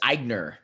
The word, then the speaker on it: Aigner: Did I pronounce that right? It's Aigner.